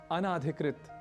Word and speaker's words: अनधिकृत: हुआ भी पाते हैं अनाधिकृत, अनाधिकृत प्रवेश वर्जित है। तो इस तरह से कुछ अशुद्धियां होती हैं, जबकि होना चाहिए इसे अनधिकृत।